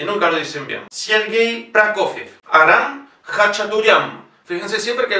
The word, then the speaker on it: Prokofiev: Sergei Prokofiev. Fíjense que la primera O no está acentuada, por lo tanto es Pra. La segunda O, siendo llana, tiene la sílaba tónica y es O. Prokofiev.